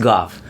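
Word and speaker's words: Gough: There's There's a street in San Francisco in the hate. G O U G. And that is pronounced Goff.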